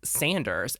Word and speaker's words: Saunders: And in these episodes that we're talking about, she actually pronounces Kate's last name as Saunders, but in most of the series, she says Sanders.